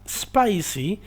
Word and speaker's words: spicy: la es el principio no se pronuncia como es sino que se pronuncia como el sonido que haría una serpiente con su lengua cierto y de ahí